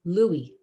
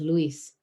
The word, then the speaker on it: Luis: Neighbors pronounce my father's name as Louis instead of Luis.